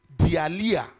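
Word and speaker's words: deilia: The Greek word for this word fear, spell it D-E-I-L-I-A. D-E-I-L-I-A. Dialia. Dialia.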